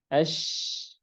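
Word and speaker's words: ش: Nah, maka huruf shin pengucapannya harus dialirkan nafasnya karena dia hams. Ada huruf shin ya. Dan juga harus dialirkan apa? Dialirkan atau dialirkan suaranya karena dia rikhwah. Ash, ash, asy, asy, asyu.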